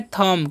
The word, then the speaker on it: thumb: थंब नहीं पढ़ना है, आपको पढ़ना है थंब। क्या पढ़ना है, थंब पढ़ना है। यहाँ पर जो है बी साइलेंट है, ओके।